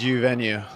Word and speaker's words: Uvenu: Did I pronounce it right? It's U venue.